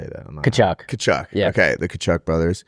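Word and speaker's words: Tkachuk: Kachuk.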